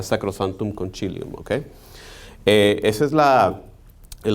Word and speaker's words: sacrosanctum concilium: pero hoy en día se tiende a pronunciar con el acento italiano que sería sacrosanctum concilium porque esa es la